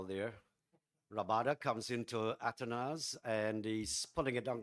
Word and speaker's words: Athanaze: on the leg side or should I say atones yeah I think uh We've we've had various pronunciations for his name but he himself has said his name is called atanes so good to hear that atanes and it's one of